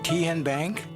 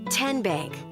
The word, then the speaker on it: TN Bank: TN Bank? Nope. Tin Bank? So what is it? 10 Bank. 10, as in Tennessee, right here where all our banking decisions are made.